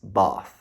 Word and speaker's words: Bath: Inclusive, o meu vô, ele zoou um pouco a minha pronúncia, porque eu fui falando Bath, Bath, Bath, e ele diz Bath, certo?